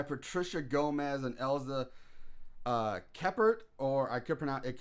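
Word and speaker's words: Kephart: by uh Ela keyart keer ke ke it's keyart we're saying ke fart uh now not much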